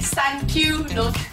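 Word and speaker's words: 三九: 3 and 9 in Japanese are pronounced San Kyu...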